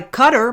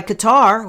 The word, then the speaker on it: Qatar: Arab world I know we're being played by cutter by Qatar however you want to pronounce it they are both a sponsor of